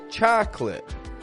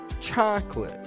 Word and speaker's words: chocolate: treat that we call chocolate chocolate interesting that there's a letter I'm not saying when I say this word it is indeed